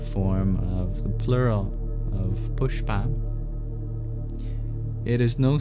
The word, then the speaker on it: puṣpa: You'll see there's a dot under the s too which indicates that's a little different. You curl your tongue back to produce that sound.